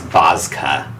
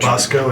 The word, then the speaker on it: Bozka: You learn the name is Bozka, a devil, Nice. and Not Bosco, a delicious chocolate drink.